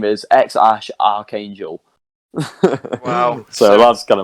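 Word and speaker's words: X Æ: and he said the the first part xae is his his partner's choice and it's pronounced x ash x ash which i don't really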